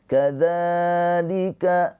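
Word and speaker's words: كذلك: Kadzalika dza panjang dua harakat mad thobi'i.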